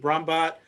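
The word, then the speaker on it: Brahmbhatt: not least you're welcome is i believe brahmbat um but you go ahead and correct me if i pronounce it correctly you have the last question now you actually got my last name right that is actually how you pronounce it my first name is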